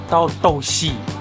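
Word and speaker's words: 豆豉: Douchi. How do you say that in Cantonese? Dauh sih. Dauh sih.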